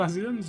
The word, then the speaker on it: Azem: All the long years I resided here, never have I encountered such a unique entity, and one of them, I'm one of Azim's nonetheless, no less.